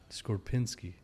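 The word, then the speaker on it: Skorupinski: Skorpinski is how you say his last name.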